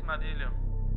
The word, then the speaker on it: Madillio: My name is Madilio. Ask for me. Spell it.